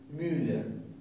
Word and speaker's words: Müller: decir molinero en alemán, mucha gente dice Müller, y se asemeja un poco. Suena a nuestro oído como algo semejante. Müller. Entonces, vamos a poner la boca para pronunciar una U y ahí sí vamos a poner la boca más estrecha.